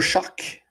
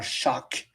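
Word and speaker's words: Shough: défaite contre moi Tyler Shock. Oh c'est qu'on prononce hein. Ouais c'est c'est c'est live c'est de même. Merci monsieur Pro de RDS. Il était anciennement chou il est maintenant choc.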